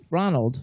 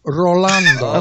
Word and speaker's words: Rolando: Say my first name correctly. Ronald. No, Rolando. Okay, whatever. It's Rolando. Say my name. Rolando. Rolando. So hold on. Roll those R's, Jimmy.